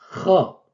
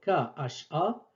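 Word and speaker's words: خ: Donc la transcription K-H-A n'est pas tout à fait fidèle à la prononciation exacte. Donc ce n'est pas K, c'est plutôt Kha. C'est la jota de l'espagnol. Kha. Kha. Tel que dans le nom Jorge.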